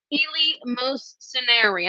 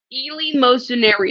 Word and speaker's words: eleemosynary: facing all of us, and that's how you pronounce this word, eleemosynary.